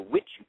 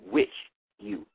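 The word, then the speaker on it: Witchu: referred to as the With You Tour. She is supposed to be with you, but she pronounced it Witch You. So it's she spelled it W-I-T-C-H-U, but it's like with you.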